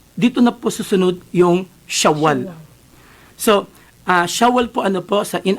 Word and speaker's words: Shawwal: Instead of Shawwal, sa atin kasi Sawal.